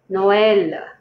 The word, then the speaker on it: Noël: The E is stressed more than the O. Noël.